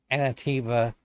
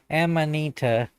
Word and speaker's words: Amanita: Um, a lot of people have asked me where Anativa or excuse me, Amanita, sorry I hammer I butchered that.